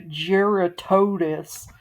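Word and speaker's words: Jyuratodus: I say Gerotidas, as in Herodotus, the Greek, ancient Greek guy, as opposed to Gerotodes, which is sort of the standard pronunciation among Western fans, I guess.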